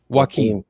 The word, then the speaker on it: Joaquin: It's Joaquin. Joaquin. Like Joaquin Phoenix.